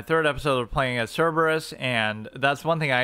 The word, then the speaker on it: Cerberus: It's Cerberus, not Cerebrus.